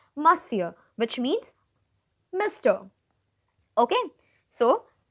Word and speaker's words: Monsieur: means basically miss Cho this is a you know French word and so it is pronounced differently do not pronounce it as Monsur it is not Mon sir my dear students its Monsieur which means mister okay